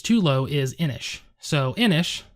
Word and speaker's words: Inis: So Inis, it's spelled I-N-I-S, and it is a Celtic word, or I don't know if it's a deity in the ancient Celtic society.